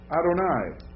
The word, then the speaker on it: Adonai: that J Jerusalem um next word Adonai that's how you pronounce it in Hebrew uh how would you